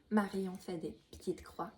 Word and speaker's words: Marianne fait des petites croix: Her Instagram handle is pretty hard to pronounce when you're not French, and so it does mean Marion does little X's. So it's not Marion cross stitch or stuff, but it's like does little X's, and it's hard to say. So pronounce it the right way.